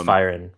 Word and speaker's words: Firen: It's Firen, rhymes with siren.